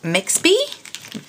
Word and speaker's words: Mexby: I picked up some more of my Mexby, rhymes with Pepsi, Mexby markers, and these were 50% off, so I got them for like $3.75 each, so that was really good deal.